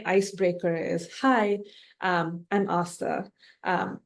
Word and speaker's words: Astha: Um, an easy way to say my name is, "Have you seen the movie Terminator?" Most people have. They say, "Yes." I'm like, "Do you remember what Arnold's most famous line is?"